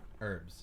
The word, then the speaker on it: herbs: to pronounce it huh herbs that's the common pronunciation the British are just weird let's start pronouncing the h ate Zed going to